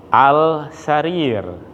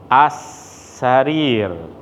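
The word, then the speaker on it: السرير: kita silap dalam membacanya sepatutnya as Syahrir khas Sarin Hai jika diberikan baris lengkap akan jadi seperti ini as Syahrir itu bacaan yang betul bacaannya salah Al sarir Al sarir hai oke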